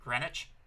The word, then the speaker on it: Greenwich: Even though it's spelt Greenwich, they pronounce it Greenwich.